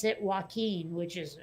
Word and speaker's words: Joaquin: joker and for some reason they could not pronounce joaquin phoenix accurately they kept calling him whacking phoenix and i was like yeah they're whacking